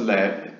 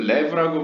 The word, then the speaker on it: lev: This spells lev. 이것은 lev라고 발음이 되는데요. The Hebrew word for heart. 그러니까 히브리어로 마음이란 뜻입니다.